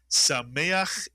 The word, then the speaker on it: Sameach: And of course you know the third syllable is ach. Mitsuyan. Can you put the word together? You'll make me very happy if you can read this word. The word is Sameach is correct.